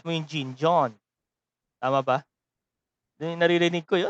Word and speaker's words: Jean: Kasi French yung Jean. John. Pag pronounce mo yung Jean, John.